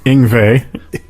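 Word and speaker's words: Yngwie: Ingvey.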